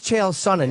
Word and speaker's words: Chael Sonnen: I think its chel sonnin yeah..he said sonnin so yeah Sonnin ok Take